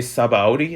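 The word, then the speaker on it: Sabaody: already in sabote okay saba audi that's how you say it at the art archipelago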